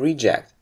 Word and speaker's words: reject: aborting the takeoff again if you use it as a noun you stress the first syllable and reject after v1 a reject should only be considered if there is a strong reason to believe that the aircraft will not fly or stopping action must be initiated promptly after the reject decision but when it turns into a verb we say to reject if a predictive winter